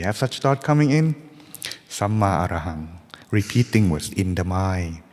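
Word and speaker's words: Sammā Arahaṃ: It means, it's pronounced like this. Samma Arahang. Like that. Samma Arahang.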